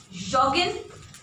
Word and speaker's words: joggen: It's not your. It's joggen. It's like in English. Joggen. Yeah. It comes from English. It comes from English, that's why we do not pronounce it as yo.